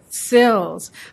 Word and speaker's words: CILSS: How do you pronounce that acronym? SILS.